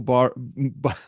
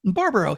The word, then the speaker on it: Barbaro: know in spite of the fact that Michael Bararo how do you say his name Barbaro he only says it every single episode obviously